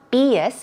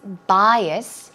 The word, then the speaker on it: bias: what about bias bias it's not be us it's bias bias very similar to prejudice